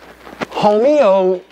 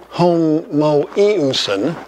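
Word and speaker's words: homoiousion: is the same substance homeowsen is homo eusan sorry got my syllables in the wrong place um is of like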